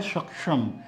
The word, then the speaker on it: सक्षम: सक्षम, सक्षम, सक्षम। क और श इस तरह का एक उच्चारण निकलता है, सक्षम, सक्षम।